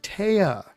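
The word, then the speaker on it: Téa: blank n i that clue t uh sorry Taya t e a with a with an accent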